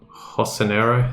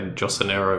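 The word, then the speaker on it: Jocinero: We will come back to Hosanero, hard name to pronounce. I always want to say Josanero, but yeah, Hosanero, I think is how I pronounce it.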